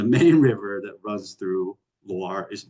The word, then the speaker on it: Loire: And then the main river that runs through Loire is Loire, Loire.